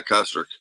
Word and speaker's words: Kostrick: How do you pronounce it? Is it Kostrick? Yeah, Kostrick.